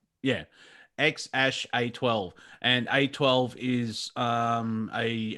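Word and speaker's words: X Æ A-12: at each other so that means ash that's how you're supposed to pronounce ya ex ash a twelve and a twelve is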